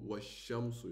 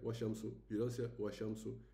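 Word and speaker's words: والشمس: to washamsu, you say, you jump from the al, you don't pronounce the lam, you go washamsu, okay? You don't say washamsu, you stay a little bit, you press a little bit the sound, wash, okay, and then you go forward.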